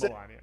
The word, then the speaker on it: Melania: It's funny that you mispronounce words that have been said billions of times in the last 4 years. Like, you know it's Melania.